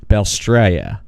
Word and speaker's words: Balestrieri: I want to welcome to the podcast again, Stefanie Davis, Chelsea Wolf, and Lexi Balestrieri. I said it right. It's fine. Balestrieri.